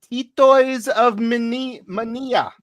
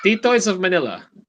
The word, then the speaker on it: Titoys of Manila: Titoys of Mania. Is that how you say it? Manila. Titoys of Titoys of Manila.